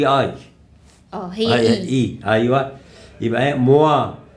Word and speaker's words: moi: هي اي ايوه يبقى موا. هنا الاو والاي تنطق ايه وا وا زي كلمه توا كده بواسون. فهنا موا جيم مونبير.